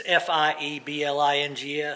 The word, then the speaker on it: Fiebing's: And this should be fine after Spell that product. Feebings. Feeblings. Feeblings. Feeblings. It's Fieblings.